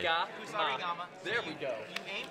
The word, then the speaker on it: Kusarigama: the Actually, pronunciation of pronunciation Kusarigama, every single syllable. or as we called it in Australia, Special K. Kusarigama.